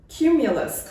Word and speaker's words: cumulus: Or cumulus clouds with a hard C sound.